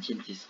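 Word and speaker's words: Gintis: 볼스 앤 진티스 혹은 볼스 앤 긴티스라고 읽기도 합니다.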